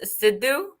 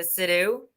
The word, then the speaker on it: Siddoo: do that too so your last name is it pronounced siddu in our accent right so shelly and siddu yeah and the american accent is a siddhu like how to pronounce